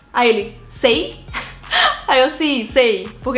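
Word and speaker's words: seis: E no caso 6, eles também não pronunciam esse S do final, a maioria. Então, sei.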